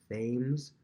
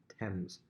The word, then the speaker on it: Thames: you see this word looks like it says thames t-h-a-m-e-s looks like it says thames river it's actually pronounced thames why i have no idea the thames so